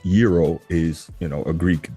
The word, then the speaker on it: gyro: of course you know a gyro or properly pronounced euro is you know a Greek delicacy right it's